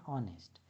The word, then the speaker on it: honest: शुरू होता है ऑनेस्ट यहां पर एच जो है वो साइलेंट है तो हम इसको पढ़ेंगे ऑनेस्ट इसलिए मैंने द ऑनेस्ट कहा।